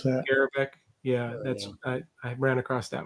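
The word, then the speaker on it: Garbarek: Jan Garabak, how you pronounce that? Garabak.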